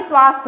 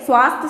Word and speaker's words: स्वास्थ्य: जब आप उच्चारण करेंगे स्वास्थ्य तो ये स्वास्थ्य होता है, न कि स्वास्थ्य होता है। ठीक, तो ये गलत है और ये स्वास्थ्य सही है।